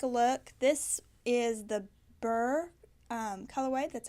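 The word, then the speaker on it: beurre: in and take a look this is the bur color white that's how you pronounce it it looks b ii u RR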